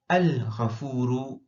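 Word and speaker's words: الغفور: But when we say al-ghafuru, we pronounce the lam of the alif lam, al-ghafuru.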